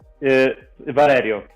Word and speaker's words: Valerio: say your name again Valerio it's quite similar to it's quite similar to Valerie it's just the the name in Italy at least okay uh